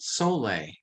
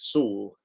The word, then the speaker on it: Soule: effort you pronounce it saul okay yeah as an s double o l it's a basque name okay kind of between spain and france in the pyrenees yeah i'm glad i